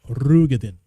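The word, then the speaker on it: Roegadyn: I learned that the real name, the real pronunciation for that race is Rugadin. For me will always be Rogaden.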